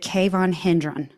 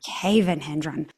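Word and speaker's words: Cavan Hendron: So, is it Konhendrin? Cavenhendrin. Cavenhendron. Put the wrong emphasis on the wrong syllable.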